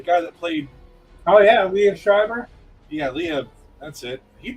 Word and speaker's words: Liev Schreiber: how about I can never pronounce his name. Liv Schreiber, the guy that played. Oh yeah, Liev Schreiber.